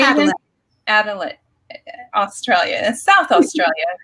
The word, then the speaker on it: Adelaide: Adelaide, Australia, South Australia, correct?